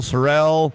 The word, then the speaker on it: sorrel: you pronounce the color how do you pronounce the color this color you always tell me I say it wrong well it's not blue it's a sorrow sorrow sorrow Sorel okay another one you